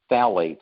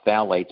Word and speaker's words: phthalates: they're the worst offenders one is called phthalates now it's spelled p-h-t-h-a-l-a-t-e-s only a chemist would know how to pronounce that but it that mimics